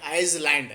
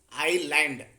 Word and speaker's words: island: Here s is silent, that you have to understand. You should not read like Iceland, that is wrong pronunciation of this word. You have to pronounce it as island.